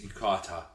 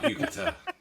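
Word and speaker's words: 浴衣: It's yukata, not yukata. It's not the Yucatan Peninsula. I don't understand. What do you mean yukata?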